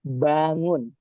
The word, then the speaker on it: bangun: Eh, for bangun or as I heard before some of you said bang eh if it you the letter in Indonesia which means double O, right? We say it bangun wake up. Yes. Eh, the word bangun bangun bangun bangun. Eh, we don't spell the G but only bangun.